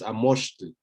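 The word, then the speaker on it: amoxtli: Quizás la particularidad es recordar que esta grafía de acá se pronuncia sha y es lo que vamos a escribir con X, ¿no? Entonces, Amoshtli.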